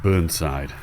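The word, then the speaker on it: Burnsall: little vage called now I've heard it pronounced two ways Bernie side and burn side so you take your pick I think it's Bernie side T heavily spring-loaded one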